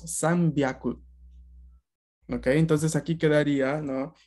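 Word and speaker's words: 三百: hyaku, 200 ni hyaku, pero 300 cambiaba un poco la pronunciación de ese hyaku y se volvía byaku y decíamos san byaku.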